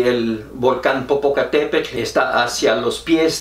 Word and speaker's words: Popocatépetl: pero que se llama popocatépetl yo así lo pronuncian muchos porque no saben pronunciar la del náhuatl en el agua desde el 5 morenos dicen popocatépetl bueno este volcán está